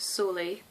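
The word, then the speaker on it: Soley: I have been listening to an album by a lady called, I think her name's pronounced Sole. It's spelt S for Sierra, O for Oscar, L for Lima, E for Echo, Y for Yankee, and I've been listening to the We Sync album.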